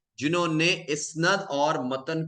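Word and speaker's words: إسناد: अब याद रखिएगा कि इस्नद का मतलब है इस्नाद, जिसे हम कह रहे हैं, जो कि एक्चुअल प्रोनाउंसिएशन है।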